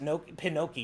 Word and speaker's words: Pinocchio: Also, if you were, is it Pinoki? You're right. Noki is how you say it, isn't it?